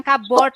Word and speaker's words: cupboard: Tapi kalau dalam bahasa Inggris itu kan memang suka aneh ya bacanya ya. Kalau dia ditempeli kata lain di depannya, bacanya jadi beda lagi, bukan board lagi, tapi bird. Cupboard gitu ya, jadi ini bacanya pengucapannya cupboard gitu.